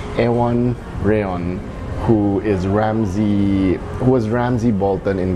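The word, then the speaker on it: Iwan Rheon: And I had to check how to pronounce his name. It's Ewan Reon, who was Ramsay Bolton in Game of Thrones.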